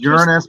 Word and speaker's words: Uranus: is the shot that he sent me from Uranus this is the shot from Uranus actually it's pronounced Uranus but that's funny because we can always say